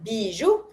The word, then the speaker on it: bijou: And you pronounce everything in this one, bijou.